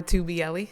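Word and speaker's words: Tagliabue: tag by um it's 2 belli uh the g is silent but it's uh you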